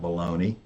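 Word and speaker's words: bologna: what's in baloney exactly it's spelled bolognia but we call it baloney and it's made of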